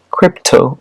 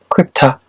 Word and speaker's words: crypto: c o y PTO o pronounced crypto or krypta meaning hidden secret examples